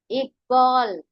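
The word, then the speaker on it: इक़बाल: Iqbal. Think in English. What is the spelling of Iqbal? I-Q-B-A-L. Okay. Now, instead of that Q, here you put what? The letter with Nukta.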